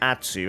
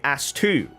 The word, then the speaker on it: Atsu: typically many white people, can't pronounce the name Atsu, and they always say Astu, A-S-T-U instead of A-T-S-U.